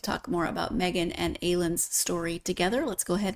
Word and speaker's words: Aylun: And Aylun is how I'm pronouncing it, but how do you? That is correct.